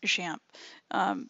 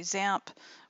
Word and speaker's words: XAMPP: xam PP alright and that is actually pronounced shamp some people say xampp some people say zamp whatever champ is apparently